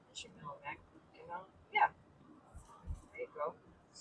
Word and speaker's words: Mackinac: And yeah, Mackinac. Right. Mackinac. Yeah. There you go. It looks like it should be Knack though, but that's not how you say it.